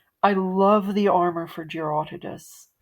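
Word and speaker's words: Jyuratodus: I say Gerotidas, as in Herodotus, the Greek, ancient Greek guy, as opposed to Gerotodes, which is sort of the standard pronunciation among Western fans, I guess.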